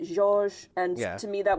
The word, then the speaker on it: Georges: They spell it like the name George, but they add an S and they pronounce it Georges.